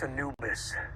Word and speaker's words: Anubis: the ship was vented interesting guess it's pronounced Anubis Egyptian god of the Dead that's the one